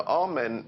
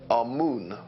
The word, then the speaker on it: Amun: Now, Amen is the pronunciation that the Hebrews give it, and some scholars agree to use that pronunciation. Amun is the pronunciation given to it by one of the old European scholars, Plutarch. In the language of Kemet, the word for hidden is Imen, or Amun is the way that we put it in English.